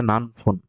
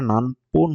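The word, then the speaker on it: 何分: শুরু হওয়া এরপর আছে নানফুন নানপুন এইখানে এটা নানপুন হবে নানপুন মানে সময় জিজ্ঞেস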